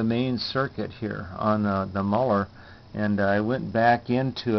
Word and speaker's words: Muller: Actually, it's Muller is how it's pronounced. Carmen, if you watch my videos, I apologize for mispronouncing your last name. It's Muller.